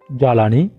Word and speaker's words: জ্বালানি: নিয়ম 2 আমরা বলতে পারি শব্দের শুরুতে ব্যঞ্জন বর্ণের গোড়ায় ব ফলা আসলে ব এর উচ্চারণ হয় না। যেমন উদাহরণস্বরূপ আমরা বলতে পারি স্বাধীনতা, জ্বালানি, স্বদেশ ইত্যাদি।